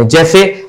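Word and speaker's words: his: के लिए भी कहते हैं जैसे आपने कहा जड तो ज साउंड आया ना बज डबल जड के लिए ज साउंड आया हिज भले ही एस लिखा लेकिन हम इसे हिस नहीं पढ़ते हैं हम इसे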